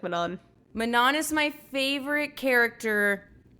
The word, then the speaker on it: Manon: See, okay, it is pronounced Manon, not Manon. Yes, it's Manon. Yes, it is Manon. It does not sound like a cookie.